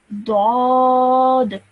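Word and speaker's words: ضاد: Next, dad. Nice thick heavy sound again.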